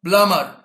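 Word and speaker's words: plumber: بايب اللي هي الماسوره بلامر بلامر بلامر طبعا البي ما بنطقها اللي هو السباك باس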